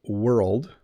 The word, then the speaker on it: world: But world, we've put an R and an L and a D beside each other with no vowel in between them. So it becomes a little more challenging.